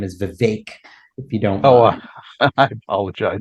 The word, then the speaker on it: Vivek: the correct way to say my name is Vivek if you don't I apologize no no no